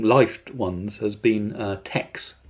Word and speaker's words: TeX: Uh, one of the most famous and long lived ones has been uh Tex Te always pronounced tech uh te kai the Greek letter or latte um uh designed by